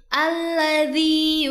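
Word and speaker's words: الَّذِي: Dalam surah An-Nas ayat kelima terdapat ayat yang berbunyi Alladzi yuwaswisu fi sudurin nas. Pertama, di sini terdapat huruf dzal yang makhrajnya ada di ujung lidah bertemu dengan ujung gigi bagian atas. Jadi bacanya alladzi.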